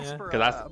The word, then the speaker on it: Espera: And coming up now, we have Espera. Is that how you say it? Espera, right? Yeah. Espera, but people say it 1,000 different ways.